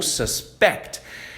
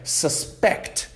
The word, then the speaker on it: suspect: que é suspect ou suspect. Então a primeira forma de que a gente pode falar essa palavra é suspect. E se a gente dá ênfase no começo dessa palavra, suspect significa o suspeito.